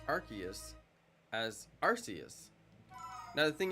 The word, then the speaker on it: Arceus: I never thought it was Arceus because it's Arc, A-R-C, Arc, and then the rest of it is added to the word Arc.